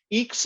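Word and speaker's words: EECS: i don't know that eeks is fairly electrical engineering computer science we pronounce all acronyms in berkeley uh eeks is um fairly common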